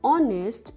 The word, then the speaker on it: honest: Similarly, when H is silent like in honest, it is now giving us the sound of vowel, we use an.